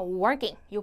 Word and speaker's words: working: working out 운동할 때 자 발음 조심하세요 working 과을 많이 헷갈려 하시는데요 자 우리 work 같은 경우는 리을이 들어가는 거예요 working요 발음이고 우리 킹은 걸을 때기 때문에 아예 들어가지 않고요 발이든 그래서 여러분이 운동할 때랑 그리고 걸을 때 혹시 같이 쓰실 분들은 발음 완전 다르게가 주셔야 됩니다 자 우리 다음 go